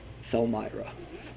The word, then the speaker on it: Thelmyra: Thelmyra. Oh. Thelmyra. Oh, Thelmyra. How do we pronounce it? Thel. T-H-E-L.